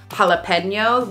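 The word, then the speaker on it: jalapeño: though it's written there I think J is one of the ones that's like it's really rare uh for it to be silent but you will have something like a borrowed word from another language like jalapeno we'll say that with an H sound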